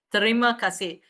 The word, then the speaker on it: Terima kasih: Terima kasih.